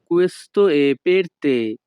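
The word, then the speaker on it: Questo è per te: জন্য এটা তোমার জন্য এই বাক্যের ইতালিয়ান ভাষা হবে কুয়েস্ত এ পেরতে ইতালিয়ান ভাষায় ই এর উচ্চারণ হবে এ ইতালিয়ান ভাষা কুয়েস্ত এ পেরতে বাংলা অর্থ এটা তোমার জন্য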